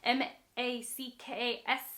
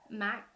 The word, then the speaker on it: Mackesy: I've been saying his name wrong. Mackesy, rather. Mackesy.